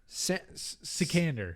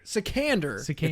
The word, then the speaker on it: Sikander: i'll say it again secander secander it's like alexander but oh my gosh